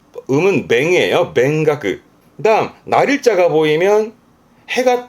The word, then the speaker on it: 勉学: 학문에 힘쓰는 맹가크, 음은 맹이에요. 맹가크.